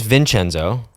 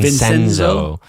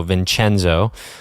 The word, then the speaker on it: Vincenzo: A lot of people have been pronouncing it incorrectly. They're Minnesotans, and so they don't have the Italian first. What are they saying? Vincenzo. Yeah. There's no H. It's just the C.